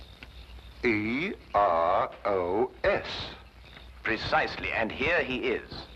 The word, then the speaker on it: Eros: A slight confusion on the lady's part. Probably the influence of Cockney stagehands. She added an H where there shouldn't have been one. What? Then spell it as she spelled it, but without the H.